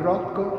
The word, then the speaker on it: Rothko: Markus Rothkowitz, diventato nel 1940 Mark Rothko, non Roccio, come sento, con un certo fastidio a volte pronunciare. Allora, Rothko, vero? Qui c'ho la fila degli americani che mi può spalleggiare. Peggio per loro. È quindi americano, no, e si dice Rothko.